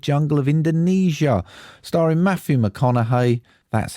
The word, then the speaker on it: McConaughey: Starring Matthew McConaughey, that's how you say it, Edgar Ramirez and Bryce Dallas Howard.